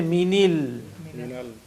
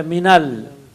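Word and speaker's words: مِنَ: But when you say min, you don't say minil, you say minal, because again dissimilation, kasra followed by kasra is difficult to pronounce, so we say minal.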